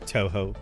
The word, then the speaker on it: Toho: It's pronounced Toho, not Tuhu.